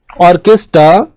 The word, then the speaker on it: orchestra: ऑर्केस्ट्रा, वैसे इसको बोलते हैं ऑर्केस्ट्रा, करेक्ट प्रोनाउंसिएशन क्या है? ऑर्केस्ट्रा। This is the correct pronunciation.